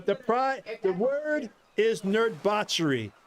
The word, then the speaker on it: Nerdbauchery: right yeah the the pride the word is nerd botchery n e r d b a u put